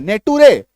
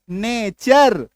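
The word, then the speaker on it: nature: जैसे कि एन ए टी यू आर ई इसका उच्चारण क्या करते हैं? नेटू रे नहीं नेचर। क्या करते हैं? उच्चारण हम लोग नेचर। अब टी का उच्चारण जो है वो च हो गया।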